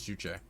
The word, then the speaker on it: Juche: south announcing it simply juche yeah it is juje hey okay yeah i it it stuns me